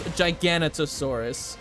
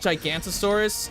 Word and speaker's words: Giganotosaurus: pronounce Giganotosaurus' name as Giganotosaurus. It's weird. Some people just call it Gigantosaurus. It's Giganotosaurus, or in JWE's case, Giganotosaurus. It's weird.